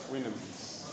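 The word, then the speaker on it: Houyhnhnms: It is spelled H-O-U-Y H-N-H-N-M-S. Winhams. The voyage to the Winhams.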